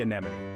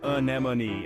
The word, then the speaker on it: anemone: it down a a notice how the stress is on the second syllable nem repeat after me